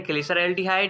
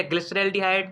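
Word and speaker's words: glyceraldehyde: Aldose हमारे पास है ग्लिसरैल्डिहाइड या ग्लिसरैल्डिहाइड, दोनों प्रोनाउंसिएशन सही है।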